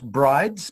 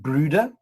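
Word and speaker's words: Bryde's: got the brooders whales it's built brides but it's pronounced brooda after a norwegian gentleman who named them and it's quite similar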